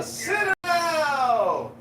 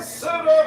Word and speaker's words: Citadel: The Citadel. The Citadel. Oh, that's how you say it, Brad.